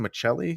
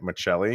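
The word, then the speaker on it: Maccelli: is his first name his last name is pronounced how you pronounce my last name the italian way oh and moser was saying it online i'm like is he saying michelle like michelle is how you like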